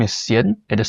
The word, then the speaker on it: Hsien: Yeah, so my first name is Cien. It is spelled as H S I E N.